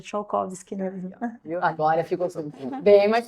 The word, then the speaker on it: Strzalkowski: Então, a doutora Stradzakowski. É Tchaikovsky, na verdade, mas todo mundo acaba falando Stradzakowski.